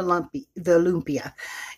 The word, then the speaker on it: lumpia: meat cool down before I can roll the lumpia is how it's pronounced.